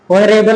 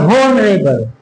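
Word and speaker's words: honorable: मैन, ऑनरेबल, ऑनर है कहीं को भी लो, ऑनरेबल लिख लिया।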